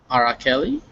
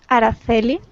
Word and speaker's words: Araceli: And we also have Arakeli. Hi, my name is pronounced Araceli, like with a th sound instead of Araceli?